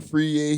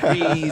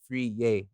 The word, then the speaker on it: Friyie: They're saying Friyie and Freeze and Fry, all these things.